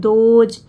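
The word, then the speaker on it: those: पढ़ा जा रहा है देखिए यहां पर भी इ है लेकिन इसका उच्चारण नहीं हो रहा दोज है ना दोज उनसे दोज मींस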